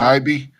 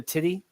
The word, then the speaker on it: Tibbi: Oh, Yeah, it's I'll tell you, man, it's been pronounced so many different ways on so many different shows now. Sometimes I have to stop. Tibbi. I've had people calling her Titty, Titty.